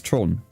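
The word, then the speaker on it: Theron: somebody called you've probably heard of her charlize tron yes yes yes so that's how you pronounce it here charlize it's spelled t-h-e-r-o-n so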